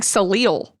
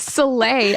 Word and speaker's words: Soleil: I kept thinking Salil. And I was like, that's not. Anyways, Soleil, unfortunately, doesn't make it